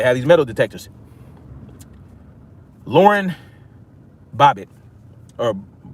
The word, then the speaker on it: Boebert: Lauren Boebert, or Boebert, my bad. I'm saying the name wrong.